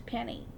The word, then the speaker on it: Penny: how difficult is that i even enunciate the p when i introduce myself when i answer the phone hi my name is penny but yet i can't